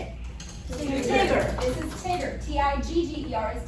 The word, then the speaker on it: Tigger: How do we pronounce this word? Come on. This one. Tigger.